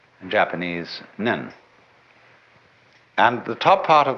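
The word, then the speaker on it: 念: they have a very interesting sign this it's pronounced n in Japanese nen and the top part of the character uh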